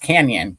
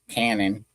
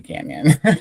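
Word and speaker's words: Cañon City: seen something in Colorado spelled the Spanish way and pronounced the Spanish way. Guys, it's has a N with a squiggly and it it's it's pronounced canyon, right?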